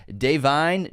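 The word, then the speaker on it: Da'Vine: On 5 Academy Award nominations, it won Best Supporting Actress for Deveney Joy Randolph, which is how you pronounce her name according to Wikipedia.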